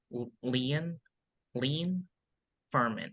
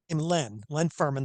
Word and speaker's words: Len Ferman: sports trip time traveler Leanne lean Furman how are you doing today great Brandon it's uh it's really an honor to be on the show today and I pronounce my name Len Len Furman the sports time traveler